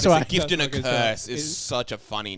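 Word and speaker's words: Kers: Yeah, it's a gift and a curse, but the curse is spelled A It's K-E-R-S, K-E-R-S. So curse.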